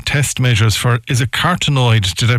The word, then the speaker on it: carotenoids: on and the test measures for, is it carotenoids? Did I pronounce that correctly? Yeah, carotenoids.